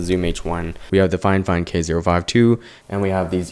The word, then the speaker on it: FIFINE: so it's by fine fine technology it is pronounced fine fine even though it's f i f i n